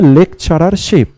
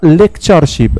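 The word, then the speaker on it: lectureship: আমরা একটা ভুল উচ্চারণ করি যেটার নাম কি লেকচারারশিপ। লেকচারারশিপ কিন্তু ভুল, অ্যাকচুয়াল কি হবে এটা লেকচারশিপ। লেকচারশিপ কি হচ্ছে কারেক্ট ওয়ার্ড, লেকচারারশিপ ভুল, লেকচারশিপ হচ্ছে কারেক্ট।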